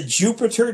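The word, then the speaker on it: Jupyter: three is called the Jupiter notebook Jupiter is spelled j py t r uh ju stands for a language called Julia py for Python and obviously r for r that's what this came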